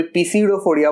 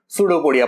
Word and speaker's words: pseudopodia: कोई पीसीडोफोडिया बोलता है, लेकिन पी साइलेंट लेते हैं जनरली, हम लोग सूडोपोडिया प्रोनाउंस करेंगे इसको।